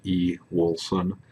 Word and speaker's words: Ewoolson: That's pronounced E. Wilson.